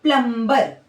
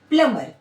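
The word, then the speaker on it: plumber: Generally मतलब आमतौर पर देखा जाता है कि इसको सब लोग क्या पढ़ते हैं? प्लमबर जो गलत है। इसका जो सही प्रोनाउंसिएशन है वो क्या है? प्लमर। क्योंकि एम के जस्ट बाद में यहां देखिए एम है और यहां बी है।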